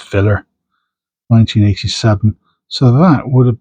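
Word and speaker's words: fillér: I think it's pronounced filler.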